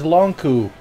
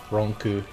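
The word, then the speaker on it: Lon'qu: It's Longku. Oh. I would have never remembered that. I only know how to pronounce it because that's what the Japanese katakana says. Ronku.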